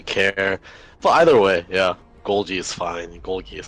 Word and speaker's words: Golgi: joined by the saintly golgi apparatus which we just googled and found out that's how you say it even he didn't know and it's his name I mean I don't